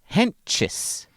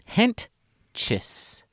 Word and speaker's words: Hentges: I know that his name is pronounced Hentges. Mm-hmm. Hentges.